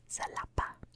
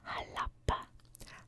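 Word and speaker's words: Xalapa: And that is spelled in English, it's spelled like X A L A P A, which we would say salapa, but it's actually pronounced halapa.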